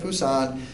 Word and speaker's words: Pusan: And though I don't speak Korean, I think that the consonant there is somewhere in between a B and a P.